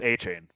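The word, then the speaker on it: Achane: I think it's A-Chain.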